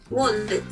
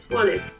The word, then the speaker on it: wallet: The accent on the T when you pronounce it in Japanese is like, he was like wallet. In English, it's just like wallet.